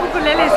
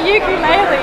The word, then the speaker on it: ukulele: Why are there ukuleles here? I'm not sure you're saying that right. Yeah, I am saying it right. They told me in Hawaii. It's not ukulele, it's ukulele.